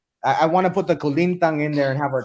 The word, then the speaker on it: kulintang: Kulintang?